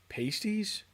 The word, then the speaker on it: pasties: favorite dish for dinner, pasties. Pasties. Uh, oh, wait a minute. He says pronounced pasti. Pasti. I don't that doesn't help me. I guess past E, not paste e.